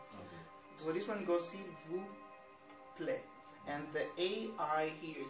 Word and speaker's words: s'il vous plaît: Whenever, like, some of the words that end with consonants in French, you don't really have to pronounce them. Okay. So this one goes, s'il vous plaît.